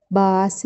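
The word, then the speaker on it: bus: الحافله سائق الحافله اسمه باس درايفر باس درايفر انا بدي اقرا على كيفي وهج على مود الضعيف واللي ما يعرف يقرا يتعلم هاي اليو لا تلفظها يو تلفظها ا سريعه ماكو يمها اصوات عله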